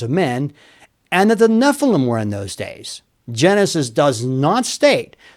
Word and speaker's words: Nephilim: The translators used the word giants in verse 4 for the Hebrew word Nephilim or Nephilim, depending on how you prefer to pronounce it.